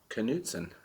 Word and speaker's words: Knudsen: Oh yeah, it's pronounced Knudsen. I got it right.